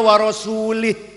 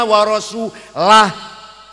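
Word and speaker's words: وَرَسُولُهُ: Ada orang baca Quran salah. Innallaha bari'um minal musyrikina wa rasulih. Allah orang lindungi orang musyrik dan tidak melindungi rasulnya. Salah. Bacanya innallaha bari'um minal musyrikina wa rasulah.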